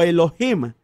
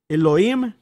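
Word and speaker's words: אֱלֹהִים: palabra en lo yma o elohim como la pronunciarían pues las personas que tienen cierta influencia del inglés y que pronuncian la h como una jota elohim en la pronunciación correcta y esa expresión significa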